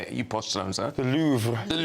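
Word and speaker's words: Louvre: you post so the louver the louver.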